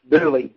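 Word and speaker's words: Dula: of marrying a certain Thomas C Duan actually pronounced dly as in the song hang down your head Tom dly uh and the infamous uh song that that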